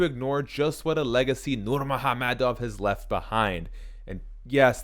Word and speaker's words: Nurmagomedov: it hard to ignore just what a legacy nur mahamadov has left behind and yes that's how you pronounce his name roughly for 12 years the